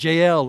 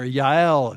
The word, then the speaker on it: Jael: Sisera fled away on foot to the tent of Jael, or Yael, if you say it right, the wife of Heber.